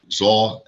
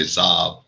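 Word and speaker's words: Tzav: Zah, most people say Zav, so, they pronounce with the V at the end, Zah.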